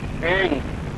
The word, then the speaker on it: ऐं: ऐंग, ए ऊपर मात्रा, ऊपर बिंदी, ऐंग।